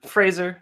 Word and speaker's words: Fraser: Like Yeah, Fraser. It's like F. It'd be like phrase and then SIR kind of, right? Like sir instead of jur.